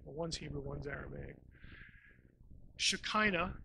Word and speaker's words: Shekinah: Shekinah is probably the way you've heard that pronounced, if you've heard the word at all.